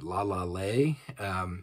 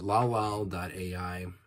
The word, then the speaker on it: LALAL.AI: There's a website called Lalal, Lall.ai, or I've heard people pronounce it Lalale, which is kind of pretty, but Lalal.ai, which is actually the simplest, most straightforward one to use.